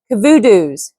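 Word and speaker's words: Kovudoo: party of blacks to Kavutoo's village. Cavudu's village, excuse me. We we were pronouncing his name differently with instructions to learn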